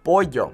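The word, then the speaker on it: pollo: okay hola we also have the doble which makes a y sound for example boy yo now in some countries like Argentina you're here for sure okay but in most places we'll say boy yo okay makes that Y sound very important for example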